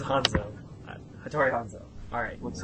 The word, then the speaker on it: Hanzo: Numero uno, Hattori Hanzo. Hattori Hanzo. That's much better than what you said last week. Hanzo. You said Hazano last week. Hazano. but it is Hanzo.